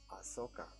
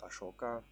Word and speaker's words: Ashoka: I don't know okay ahsoka or I think the proper way to pronounce it is ashoka king ashoka the fierce